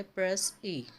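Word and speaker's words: précis: तो प्रेसी जो है वो एक फ्रेंच वर्ड है जो कि प्रोनाउंस किया जाता है प्रेस ए, जिसका मतलब होता है प्रिसाइज और अ कंसाइज और अ ब्रिजिड स्टेटमेंट और एब्स्ट्रैक्ट स्टेटमेंट।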